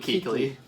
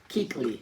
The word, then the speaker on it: Kuechly: Luke Kuechly. Luke Kuechly.